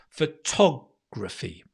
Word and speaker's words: photography: quick jab photographs photographs photography photography right get the stress really really good great okay so i'm